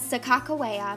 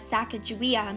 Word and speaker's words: Sacagawea: Lewis and Clark expedition the true pronunciation meaning and spelling of Chicago ia's name has long been a point of controversy among modern-day historians known as Sakakawea meaning bird woman by the Hidatsa and as Sacagawea meaning boat launcher by